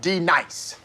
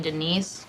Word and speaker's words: D-Nice: Now, D nice. Do you mean Denise? Son of a bitch. You say your name right now. Denise? Say it right. Denise. Correctly. Denise. Right. Denise. Right. D-nice. That's better.